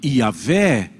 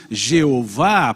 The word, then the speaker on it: Jeová: de pronunciar ou não, que tornou-se uma corruptela depois Jeová, porque o Y seria o equivalente ao J na estrutura do pensamento latino, então ficou como Jeová, Javé, Iavé, Iové.